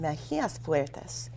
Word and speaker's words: Mejias Fuertes: I've still been pronouncing it wrong, but it's Dr. Mejia-Fuertes.